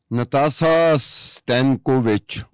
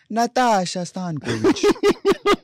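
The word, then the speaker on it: Nataša Stanković: नो देखिए गलत बोल गए ना आप यहाँ पे. देखिए you have to speak like this when trying to pronounce Serbian और इटालियंस नेम. नाताशा स्तानकोविच इस तरह से.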